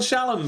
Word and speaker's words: Shallan: official pronunciation of, but I'm guessing it's going to be a bit like Shalon. Emphasis on the second syllable and pronouncing it as an on rather than an an because it's American. This is an American book. She could be called Shallon, but something tells me she isn't.